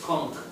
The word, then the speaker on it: conch: Oh, the right pronunciation is conch. Oh, okay. the English word is conch shell, but over the years it became conch shell.